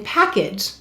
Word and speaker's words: package: double underline the e first of all why do we have a silent ian package you're right the vowel said its long sound because of the e and do you see